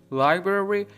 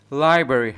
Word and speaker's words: library: البته دقت کنید لازم نیست هر دو R در اینجا تلفظ بشه. تلفظ درستش اینه که بگیم library و تلفظ عامیانه ترش که ممکنه خیلی اوقات شنیده باشید library هست. library یعنی اون R وسط رو نمیارن، ولی همونطور که گفتم بهتر هر دو R رو تلفظ کنید به صورت library.